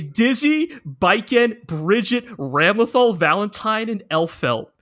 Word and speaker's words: Ramlethal: Ramlethal, yes.